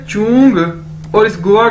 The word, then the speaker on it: zhong: ये देखें, next word है हमारे पास ZHONG, चोंग, चोंग, चोंग, कैसे बोलेंगे इसे, जैसे चोंग, चोंग, ZH यानी चे, चाइनीज में ZH को चे के तौर पर प्रोनाउंस करते हैं, यानी चोंग, चोंग इसका मतलब है सेंटर, सेंटर।